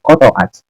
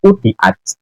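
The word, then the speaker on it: قطعت: Gus Hasan membaca idza qata'at. Itu bacanya bukan qata'at Gus Hasan, tetapi idza quti'at. Dimabnikan majhul.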